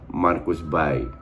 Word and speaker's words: Marcus Berg: Dalam bahasa Swedia itu kalau nggak salah pronounce-nya Marcus Berg.